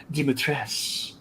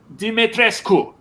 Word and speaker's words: Dimitrescu: evil village is like you pronounce this name dimitra's and the romanians are like if this is romanian that's a romanian name it's dimitrescu romania is like no